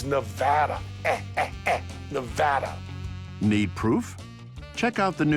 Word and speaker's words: Nevada: You get the Nevada, Nevada. That is like potato or patata. It's kind of like tomato and tomato. It is Nevada.